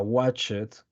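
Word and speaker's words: watched: corresponda tenemos dos ejemplos watch que cambia a watchet Y en este caso Perdón watch en este caso agregamos la Ed necesario agregar la Ed que les explicaba a sus compañeritos en la clase anterior todos los verbos regulares tienden a no pronunciar la e en este caso watch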